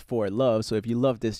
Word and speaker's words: For Love: 4K3 is pronounced For Love.